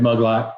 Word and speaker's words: Maglot: Roger was over at my house 3 weeks ago, Memorial Day weekend, with Justin Bedore 88, Brad Muglot, which is spelt Maglot.